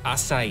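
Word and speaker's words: açaí: there but uh yeah acai even though it looks like a kai it has a different sort of pronunciation to it that oh you're going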